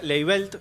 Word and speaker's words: Leibelt: Nuestra coordinadora de contenidos, Leibelt, ¿lo pronuncié bien? Leibelt. Exactamente. Bien, en la producción vamos a tener a Cristian Secul-Giusti y a Christopher Cardarelli, alias Wally, ¿no?